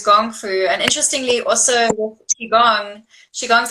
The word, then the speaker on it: gong fu: shaolin gong fu so the traditional way to say kung fu is gong fu and interestingly also gone